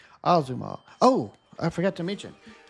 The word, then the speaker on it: Azuma: Not Azuma as I pronounced it earlier. Azuma.